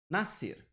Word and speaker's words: nascer: Nascer. Nascer, esse S aqui, ó, ele não é pronunciado, concorda comigo?